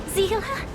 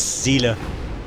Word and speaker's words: Seele: Zila? I always get the name wrong. It's Seele. Alright, Seele.